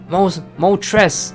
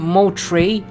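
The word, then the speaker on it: Moltres: Mo tres. It's not mo tray, it's mo tres.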